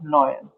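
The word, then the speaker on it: neun: इसको कैसे प्रोनाउंस करना है? जीबन। कैसे? जीबन। ये हो जाएगा आख, आख। और ये हो जाएगा नॉयन, नॉयन।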